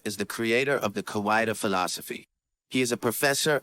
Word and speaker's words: Kawaida: It is pronounced as Kawaida.